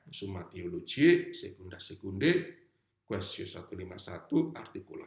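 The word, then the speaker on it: secunda secundae: Dua itu bacanya secunda secunde.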